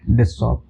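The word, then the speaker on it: dough: Friends इसका जो कहीं-कहीं इसका प्रोनाउंसिएशन डग होता है जो मैंने देखा है इसका जो प्रोनाउंसिएशन होता है वो है डो।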